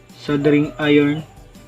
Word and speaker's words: soldering: ang ating sing iron sabi ni Google silent L sing iron at pag mainit na